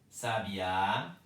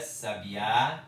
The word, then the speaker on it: sabiá: Então, eu leio sabia, sabiá, sábia. Verbo, substantivo, adjetivo. Sabia, sabiá, sábia. É diferente a pronúncia, é diferente o som, né?